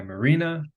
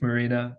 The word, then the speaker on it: Marina: Today, have the pleasure of being joined by Marina, like the boat, pronounced like where you park the boats, Marina.